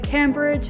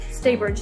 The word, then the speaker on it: Staybridge: We stayed in the Cambridge, is that how you pronounce it? Or the, not Cambridge. Staybridge, thank you.